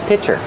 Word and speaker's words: pitcher: Use the short is sound like this is plus the ch sound for chicken pitcher.